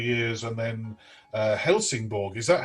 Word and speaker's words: Helsingborg: Your early jobs, Turku Philharmonic Orchestra for 3 years, and then Helsingborg, is that how you pronounce it, in Sweden?